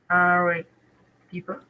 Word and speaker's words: Arequipa: Mm, Arequipa. All right. Oh, how can you help me pronounce this?